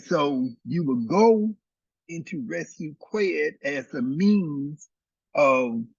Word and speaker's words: RSWT: Okay, so today somebody asked me about the idea, a concept from ancient Kemet called resuit QWED. Resuit is spelled RSWT, and QWED is spelled QWED.